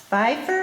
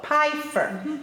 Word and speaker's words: Pifer: meyer are talking to pfeiffer is that how you pronounce your name oh piper how do you spell it